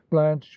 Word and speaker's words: Blanche: muse of may larm blanche we know rhymes with branch and stanch and launch and no doubt a